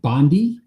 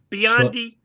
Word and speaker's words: Biondi: And for the Olympics right now, we have Mark Spitz, Jenny Thompson, Matt Bondi. Biondi. Why do I say it wrong? Biondi. Matt Biondi. No, there's an I in there, clearly.